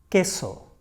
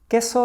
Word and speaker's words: queso: Queso, queso. Queso is cheese. We say queso and not queso.